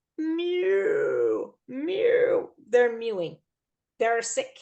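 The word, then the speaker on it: mu: a little secret so this me is from the Greek alphabet that's why it looks weird it's pronounced like Mew okay yeah what a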